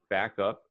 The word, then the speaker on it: backup: it now okay um something to note with the word backup is that you want to emphasize the first syllable back back up backup